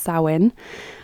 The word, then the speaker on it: Samhain: In Scottish Gaelic, it's written Samhuinn, which is maybe a bit more intuitive for native English speakers in terms of how you pronounce it, because it has that win, that UINN at the end. So it's spelt like that, but it's pronounced Samhain.